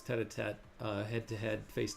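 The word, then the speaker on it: tête-à-tête: right and yeah Sandy I pronounced it wrong earlier it's tatat uh head to head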